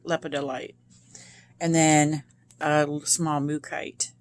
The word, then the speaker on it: lepidolite: lapedo light is beautiful leopard delight that's how you say it lepidolite and then a small